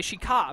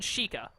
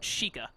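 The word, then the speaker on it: Sheikah: how to pronounce it every time I see that word I want to say Sheik ah but I know they pronounced it differently earlier they said like she can or she chika I think they just said chika I put the oo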